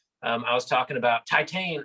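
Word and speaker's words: Titane: i was talking about titan or taitang the french pronunciation i love your french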